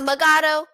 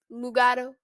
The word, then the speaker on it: Mugato: mugato gumato i think that's that's how you pronounce it mug it's not megado gamato is mugado gumato um so without further ado let's get